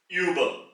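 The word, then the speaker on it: über: with the um loud it is the right pronunciation is uba Uber the door is called as tu tu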